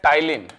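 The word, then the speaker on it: ptyalin: इसके अंदर होता है पी साइलेंट रहेगा नाम है टाइलिन क्या नाम है टाइलिन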